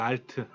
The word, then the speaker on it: Alt: 컨트롤 그다음에 alt고 있죠 alt 이거는 트라고 읽어 알트 그다음에 시프트도 있어요 시프트